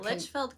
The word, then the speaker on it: Litchfield: Litchfield? Yeah, Litchfield, Kentucky.